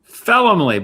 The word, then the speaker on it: Felumlee: Felumlee, but that's okay. Felumlee. I gotta like write some notes down on pronunciation.